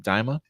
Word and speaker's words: Daima: Am I pronouncing it right? Daima?